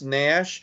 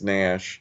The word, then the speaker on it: Naish: And you think it's pronounced Nash? You look at it with that I in there, and you might almost think that it's Naish, but I suppose I think everybody says Nash.